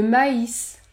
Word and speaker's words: maïs: Lorsque vous avez les lettres suivantes, A et I avec tréma, dans ce cas-là, vous allez prononcer le son AI, AI. Vous prononcez deux sons, AI, AI, comme dans le mot le maïs, ou encore haïr, haïr.